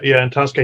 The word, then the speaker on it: Antosca: Yeah, Antosca.